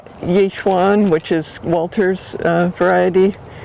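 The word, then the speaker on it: Yi Xuan: But this one is a Yishwan. What is it? Yuwan, which is Walter's uh variety. Yuan.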